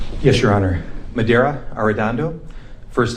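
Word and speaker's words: Medaria Arradondo: Madera Ardando. First name is spelled M E D A R I A.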